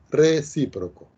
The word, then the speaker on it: recíproco: el correspondiente recíproco ok acento en la y recíproco por ejemplo si yo